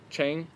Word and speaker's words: Chang: Tell me which one's right, Chang beer or Chong beer? Chang. Yeah, I think we always call it Chang. I think we call it Chang, but I think it's actually pronounced Chong. Chong.